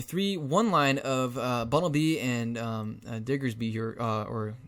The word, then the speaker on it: Diggersby: be playing a 3-1 line of Bunnelby and Diggersby here, or how do you pronounce his name?